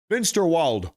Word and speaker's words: Finsterwald: That's how they say it in German. Finalt. Finsterwald.